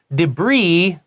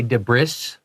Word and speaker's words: debris: Debris is basically little bits of garbage. 就是个残骸啊、垃圾啊、断掉的塑胶啊那种 Yeah, 东 and 西 it comes from French. That's why we don't say debris. 啊，因为法文，所以那个 s 不发音。 So it's debris, and it just means garbage.